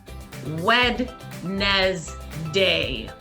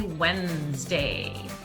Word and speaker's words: Wednesday: I like to say, although this is not how you say it, but in my head, sometimes when I was learning this word, I would say Wednesday. Oh, today, the day after Tuesday, Wednesday. But that's not how you say it, friends. You just say Wednesday.